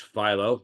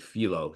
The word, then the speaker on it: Philo: Okay, and you'll note that it's pronounced Philo. I hear many people keep calling it Philo, so I know that that's the thing.